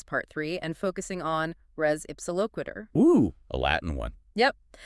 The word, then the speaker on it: res ipsa loquitur: We're staying in tors, specifically negligence part three, and focusing on res ipsiloquitter. Oo, a Latin one. Yep. And just so we're all on the same page with pronunciation, it's ressuloquiter. Reips quiter.